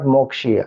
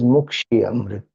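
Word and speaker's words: मुक्षीय: Mrityor, it is Mukshiya, not Mokshiya. Some people chant as Mokshiya. It is not Mokshiya, it is Mukshiya.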